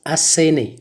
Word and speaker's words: asséné: fut asséné je courais ça se prononce asséné même s'il n'ya pas d'accent sur le e en prenant ce asséné